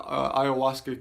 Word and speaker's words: ayahuasca: really difficult spell section a Spanish version with the Y and and an H of a silent H but ayahuasca can is is the